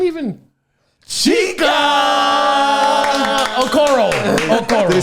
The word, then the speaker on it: Okoro: Okoro.